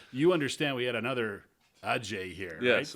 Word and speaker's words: Adjey: The D is silent. Yeah. And you understand we had another Adjey here, yes, right, for a couple of years, a good friend of ours yeah.